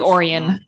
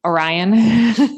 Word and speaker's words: Orion: you think um like it's Lake Oran Oran not Orion Lake Oran not Orion